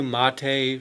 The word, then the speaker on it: MATE: laptop here it started with a boon to Ma Tei spelled ma te in the Linux world we always like to pronounce things strange well actually it's not strange